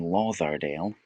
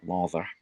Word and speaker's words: Lauderdale: So it might have been Lauderdale, with a runic thorn, Lauther. But a more modern interpretation shows it as a D, and it's pronounced as if it was a D.